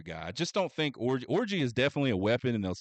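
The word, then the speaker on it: Orji: And then the aforementioned Orgy, and that's spelled G-I, not G, or excuse me, J-I, not G-Y.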